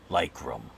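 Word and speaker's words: Lykrum: and beyond that he answers to the name lycrum to spell that it's l y k r u m as in michael but be very careful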